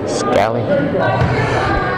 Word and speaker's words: Scally: Scally. I think that's how you pronounce it. S-K-A-L-L-Y. Scally.